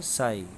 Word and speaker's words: psi: देखें ये त्रिशूल जैसा जो लेटर दिखाई दे रहा है PSI, इसे ग्रीक लेटर कहते हैं, ये P साइलेंट रहता है, साई।